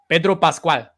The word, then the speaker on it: Pedro Pascal: Pedro Pascal. Okay, proceed. Pedro Pascal, the Mandalorian.